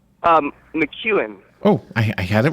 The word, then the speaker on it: McKeown: we need to take a break correct my pronunciation of your last name before we come back what is your last name um McEwan oh I had it right I think I